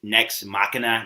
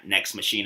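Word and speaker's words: Nex Machina: week ago I mispronounce the name is next machina not next machine uh I did it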